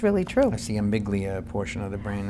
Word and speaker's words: amygdala: That's the amygdala portion of the brain. How do you pronounce that?